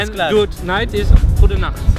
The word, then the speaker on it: Goedenacht: Good night is Goedenacht. Goedenacht. Almost like the German.